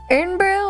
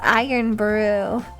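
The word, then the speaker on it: Irn-Bru: N brew is pronounced iron brew.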